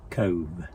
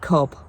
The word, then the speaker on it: Cobh: life will wake up Cove yeah it's Cove we've been calling it Cobb I just went to listen to Stu say c-o-b-h yeah so apparently it's called Cove I've listened to three